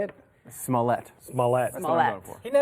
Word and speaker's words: Smollett: Smollett. Smollett. That's what I'm going for. He never mispronounces last names.